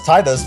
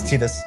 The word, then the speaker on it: Tidus: I always thought it was Tidus, but then it turned out it Tidus. was, yeah, it's Tidus.